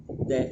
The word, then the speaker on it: the: छोटी डी होती है और बड़ी डी भी होती है और द होता है, दा नहीं होता इसका उच्चारण कभी भी, आप विशेष रूप से ध्यान रखिएगा।